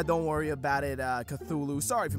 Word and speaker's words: Cthulhu: japan well well well if it isn't all whatever your name is the king of the underworld or whatever the heck lovecraftian thing you are it's pronounced cthulhu have you come to challenge me for my